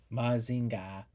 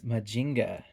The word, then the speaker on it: Mazinger: You would think in Japanese, oh, I'm sure it is Mazinga. But it's not, actually. It's Majinga. I'm kind of saying it wrong. So, that makes things a little a little confusing. Uh the proper way to say is Mazinger, but I say Mazinga cuz I'm a freak.